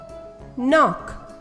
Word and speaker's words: knock: k n sounds um not knit knee knife knock the letter k is silent g n sounds um sign no not